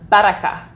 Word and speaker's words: Baraka: And the name of this dog was three long syllables. Okay. With rolling Rs. Baraka.